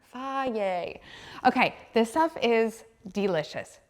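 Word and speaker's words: Fage: Somebody from Greece is gonna tell me I'm saying it wrong, but I'm from Texas, don't take it from me, but it says it on the container, Faye.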